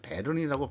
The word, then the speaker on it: 베른: 그 돈이라고 발음해야 되나요 스위스의 그 벨은 벨은 베른이라는 도시겠군요 베른이라고 발음해야 되겠군요 스위스에 유학을 했던 시절에입니다